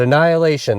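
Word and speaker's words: A9HIL8ION: Yes, it's spelled A9HIL 8ION, and that is the brand we are going to move forward with, and hopefully it will do well. But Annihilation, and that's how it's pronounced.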